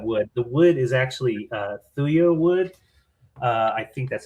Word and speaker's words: thuya: The wood is actually thuya wood.